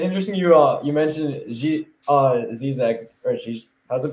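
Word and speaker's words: Žižek: But but it's interesting you mentioned Zizek, or how's it pronounced? Zizek, yep, you got it.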